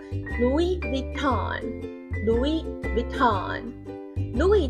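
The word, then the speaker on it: Louis Vuitton: 就是路易威登 Louis Vuitton Louis Vuitton Louis 的 S 不发音 Vuitton Vuitton 的 V 是 video 蛮像的。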